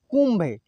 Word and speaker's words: कुंभ: यहाँ पे नहीं न का उच्चारण हुआ और नहीं अण का उच्चारण हुआ, यहाँ अलग ही शब्द का उच्चारण हो रहा है, म का उच्चारण हो रहा है। देखिए कुंभ जो कि आधा है, ठीक है, म का उच्चारण हो रहा है। इसको आप ऐसे भी लिख सकते थे, कु आधा म और भ, ऐसे कुंभ है, ठीक है।